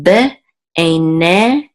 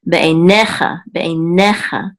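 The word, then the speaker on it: בְּעֵינֶיךָ: Okay, and this is be'einecha, and this accent, the accent is on ne. So be'einecha, and be means in, eine means eyes, and this is cha means your.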